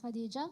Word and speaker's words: Hadija: name is hadijah uh generally people pronounce ittis differently but it is hadijah in Turkish we call it a bit softer so I'm from Turkey